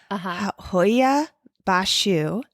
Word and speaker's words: Hoia Baciu: Hoia Baciu Forest.